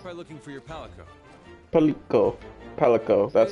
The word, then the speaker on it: Palico: Palico. Palico. That's how you pronounce it, Palico.